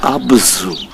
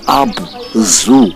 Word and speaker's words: Abzu: the world as the Abzu. And the truth, the right pronunciation is not Abzu as in animal zoo. No, it's Abzu. They pronounced the ZU as Tsu.